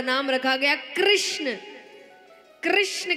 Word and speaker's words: कृष्ण: नाम रखा गया कृष्ण कृष्ण कहने में जीभ घूमती है बोलो घूमी जिसकी नहीं घूमी गलत बोल रहा है हां सही उच्चारण करेंगे तो जीव तो भगवान का नाम रखा गया कृष्ण और कृष्ण का दूसरा